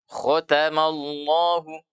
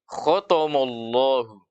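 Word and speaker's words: خَتَمَ اللَّهُ: Coba perhatikan di sini huruf kho itu tebal. Ya, kho. Kemudian huruf ta itu tipis, bukan mulut. Ta. Kemudian ma itu tipis. Ya, kemudian Allah, lam pada nama Allah dia akan dibaca dengan tebal karena didahului oleh harakat fathah. Maka cara bacanya kho ta ma Allah. Itu. Tapi ketika kita tidak mengetahui mana di antara huruf ini yang tebal, ya biasanya ada yang membacanya tebal semua. Sehingga bunyinya menjadi khotomollahu.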